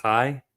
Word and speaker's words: chai: It's a Kai. The letter Kai, I believe. Five. Spel spelled like chai t c h a i.